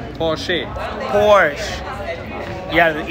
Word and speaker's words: Porsche: It's Porsche. Porsche. There's an E. Porsche. Porsche.